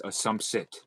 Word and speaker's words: assumpsit: non assum assumpsit um yeah like assumption but it's assumpsit okay um that's what